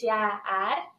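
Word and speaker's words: jääaeg: The second one is jaar, which is actually age of ice.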